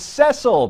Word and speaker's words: Cecil: the zimbo lion's name was cecil pronounced for the short e i guess rick watched